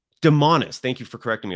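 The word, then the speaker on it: Domantas: devonta is a bonus and i hope it pronounced his first name correctly honestly what is it demanus demonis thank you for correcting me on that i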